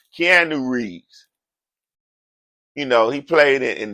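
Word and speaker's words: Keanu Reeves: and a Hollywood icon keeno Reed you know come on man everybody know who Kean re is I said the man name wrong I said the man name wrong at first Kean Rees you know he played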